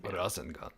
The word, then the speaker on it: Rasengan: You do a good job pronouncing it. Rasengan.